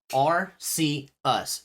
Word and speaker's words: Arceus: So on Google, like official Google, it says Arceus, Pokemon species, American pronunciation. Arceus.